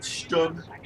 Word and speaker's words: Stug: It's got a cooked engine, but the Stug is there to protect it. Stug rhymes with book.